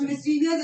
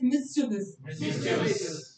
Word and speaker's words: mischievous: हाँ जी क्या प्रोनाउंसिएशन होगी? It's not mischievous, it's mischievous.